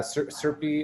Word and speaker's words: CRPE: we've been doing uh serpi as we pronounce it is the center on